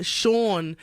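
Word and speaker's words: Seán: look up as well apparently the Irish name sha is uh the most mispronounced name in the world s e a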